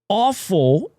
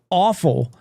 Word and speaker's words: offal: But offal, I'm sure it's pronounced awful. I want to say it is.